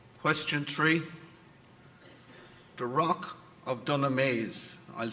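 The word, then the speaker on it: Dunamase: The rock of Dunameese, I'll spell it.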